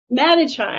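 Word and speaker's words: Madischie: Velroy, and the I'm sorry, how do you pronounce that, Sy? Matichai.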